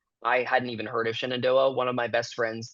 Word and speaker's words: Shenandoah: How I don't wanna butcher the name. How do you say it? Shenandoah? Shenandoah, yeah.